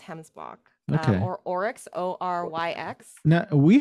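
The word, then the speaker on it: gemsbok: a way to go right these are called hemsbot yeah well it's spelled with a g but pronounced hemsblock or oryx o-r-y-x now we have some type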